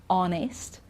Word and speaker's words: honest: here are some examples when we don't pronounce the h because you know that